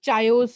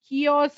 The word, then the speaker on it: chaos: like ma'am lot of chayos here it's not chayos over here there is lot of chaos over here comedian some of you